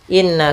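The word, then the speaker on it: إِنَّ: harakat in kemudian in di sini ada Nun berharakat tasydid maka kita namakan dengan yaitu bacaan gunah yaitu cara membacanya ditahan dulu surah n-nya Inna kemudian na ada Mad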